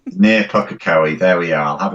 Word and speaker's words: Pukekohe: And I can't even pronounce where you live, Linda. In New Zealand. Near Pukekohe. Near Pukekohe.